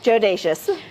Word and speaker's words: Jodacious: But can you pronounce it for me? Yeah, JODACIOUS. JODACIOUS.